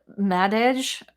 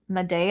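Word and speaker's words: Madej: um dr kerry uh madage or maday i think is how you pronounce her name but m-a-d-e-j especially if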